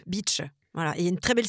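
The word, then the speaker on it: Bitche: Alors, c'est beach. B I T c h e beach. Voilà. Et une très belle citadelle à Beach d'ailleurs. La citadelle de Beach.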